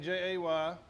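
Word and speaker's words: Jehj: But anyway, so my name is J E H J. It's pronounced like J A Y. It's a really unusual spelling of J, but it works really well.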